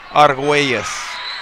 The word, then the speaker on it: Arguelles: Correct pronunciation in the Spanish language would be Arguelles, but I don't know if it translates into English that way. We're going to go with Arguelles.